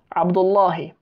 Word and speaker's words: Abdullahi: by the way, that they usually pronounce the he on the end. Even though you can just say Abdullah, they actually say Abdullahi a lot of the time among the Somalis, because this is an idafa, you know.